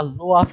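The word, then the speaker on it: Lwoff: সেই সায়েন্টিস্টের নাম হচ্ছে লফ, এবং অনেকে হয়তো অনেক ধরনের উচ্চারণ করবে, বা লোয়াফ বলতে পারো, আমরা লফ বলি।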